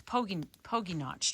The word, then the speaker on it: Pogy Notch: So that trail that we hiked in, Pogy, and so I've been saying it wrong. I've been calling it Pogy, which I should have known because Pogy would be 2 G's. So it's Pogy Notch Trail.